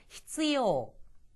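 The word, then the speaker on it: 必要: 이거를 자꾸만 히 발음이 약해지면서 시요처럼 들리거든요. 발음 조심하셔야 됩니다. 히스요.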